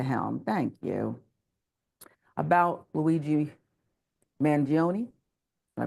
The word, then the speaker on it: Mangione: About Luigi Mangione, I butchered it, but you know how to say Oh, it you better got than it.